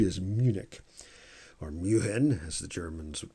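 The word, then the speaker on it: München: was stuttgart but no d is munich or muhin as the germans would pronounce it but this is f for stuttgart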